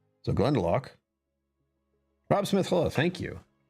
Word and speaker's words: Glendalough: She said Glendalough. It's the Lough, which is like, I don't know how to pronounce this. This is a Celtic weirdness. So Glendalough.